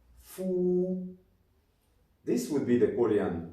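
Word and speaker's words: 福: Actually, the Chinese word for bat and the Chinese word for blessing is pronounced the same. Fu.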